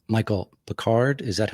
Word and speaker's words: Pickard: make sure I get your name correct Michael Bard is that how you pronounced the last name yes sir all right